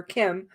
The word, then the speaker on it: Kem: as kristin and kem as they called her kim but it's spelled k-e-m kim would go back and